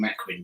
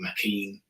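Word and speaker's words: Maquin: Quinn yeah well his his name is pronounced differently it's hard with these old languages but I always pronounced his name mcquin but some people call him mcken ah oh M mcquinn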